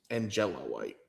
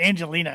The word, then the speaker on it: Angela White: I always want to say Angelina. It's not Angelina's. It's not spelled that way.